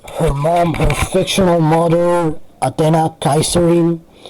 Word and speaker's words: Athena: mom, her fictional mother, Athena Kaiserin. And I'm using the Spanish pronunciation of Athena. You guys in English call her Athena. That's feel kind of off, to be honest.